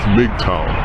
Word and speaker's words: MGTOW: going their own way our acronym is MGT W which is pronounced mtow now men going their